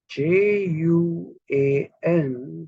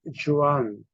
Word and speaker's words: Juan: then we write a chain we say we pronounce that as Joe or whatever but the Spanish pronouns J as ha so j u a n we will have a tendency to read it as Juan that is not right the right pronunciation is